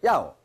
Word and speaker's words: 要: 要 몇 성이에요? 4성. 1성과 4성은 솔음이야. 도레미파 솔 음가. 그러니까 야오. 아까 모두 제자는 솔에서 시작한다고. 쭉 솔에서 시작한다고. 4성은 솔에서 떨어져 쭉. 야오.